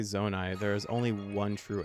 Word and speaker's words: Zonai: there we go how do you say zonai there is only one true answer zonai does someone does anyone say that differently